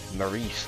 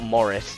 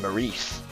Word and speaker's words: Maurice: But he's Maurice, not Morris, it's Maurice.